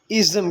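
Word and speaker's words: -ism: आईएसएम जिसको हम pronounce करते हैं इज्म की तरह।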